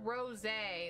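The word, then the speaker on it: rosé: like a queso okay it's pronounced rose like the wine okay okay well thank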